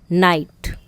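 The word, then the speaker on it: night: नाइट, जी silent है।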